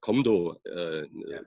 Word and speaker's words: Kumdo: But even here in the, well, they pronounce it Komdo, Kendo Komdo in Korean, and it's usually written Kumdo, yeah.